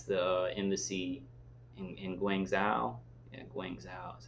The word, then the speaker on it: Guangzhou: Yeah, Guangzhou is how you say it.